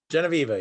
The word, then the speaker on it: Genevieve: Genevieve, yes. Genevieve. I'm terrible at pronunciation.